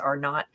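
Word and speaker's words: R0: So what is the, RO, I think it's pronounced R not, but what is the reproduction rate?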